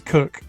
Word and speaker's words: Koch: I just say Koch now. Bennett. We've been told it's Cook, but, you know, whatever.